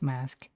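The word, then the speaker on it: MASC: called a um i'm pretty sure it's pronounced mask i don't know if it's actually a pronounced um acronym but m-a-s-c i don't really remember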